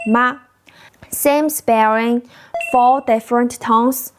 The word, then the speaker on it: mā: The single ping syllable ma same sparing four different tones for totally different meanings. Listen closely. First tone ma means mom the female parent.